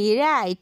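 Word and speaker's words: write: silent letter of রাইট রাইট মধ্যে ডাব্লিউ ডা silent letter যার প্রোনাউন্সিয়েশন আমরা উজ্জ রাখি যার সাউন্ডটা আমরা করি না শুধু আমরা বলি রাইট আমরা সকল প্রোনান্সিয়েশন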